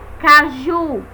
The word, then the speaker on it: caju: a segunda né Tá Caju percebemos também pelo som que a sílaba mais forte é Ju deixa a diferença da